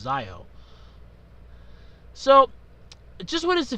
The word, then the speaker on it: Zi-O: Or Zi-O. It's going to be pronounced Zi-O.